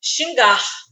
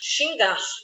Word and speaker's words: xingar: tenho a palavra xingar na palavra xingar Eu tenho a partir de duas sílabas xingar então neste caso a tônica tá no gar xingar então é aquela sílaba que eu falo com mais força eu não posso forçar